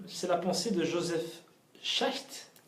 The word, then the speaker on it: Schacht: la pensée de Joseph Schacht. Alors, j'ai jamais su comment prononcer son nom. Ouais. Donc, je vais utiliser la prononciation que j'ai entendue chez les chercheurs américains. Schacht.